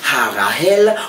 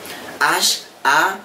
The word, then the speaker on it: Harahel: marche avant la les Harahel, comment il s'écrit? Il s'écrit H-A-R-A-H-E-L. Ou on pas dit E, c'est E. Ça fait me dire E, et me pas dire accent grave tout.